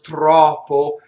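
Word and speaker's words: troppo: Notice that you have, in both of these words, trɔppo and nɔstro, you have a stress and an unstressed, and the unstressed O is closed.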